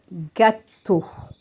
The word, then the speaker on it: gâteau: Here E-A-U is also pronounced O. So we have gâteau.